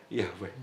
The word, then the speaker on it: Yahweh: Oh ya, kalau terpaksa namanya Yahweh.